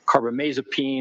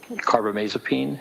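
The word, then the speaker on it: carbamazepine: I mean for example lithium or carbomasopene or valproic acid those are all mood stabilizers.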